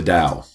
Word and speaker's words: Dao: the first one the Dao you'll very often times he had spelled with a T but it's pronounced more of the D so it's using or